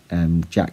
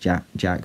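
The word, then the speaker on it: Jacques: Jack, even though it's pronounced, you know, it's spelled Jack with a Q. I think it's pronounced Jack, but I'll just say Jack.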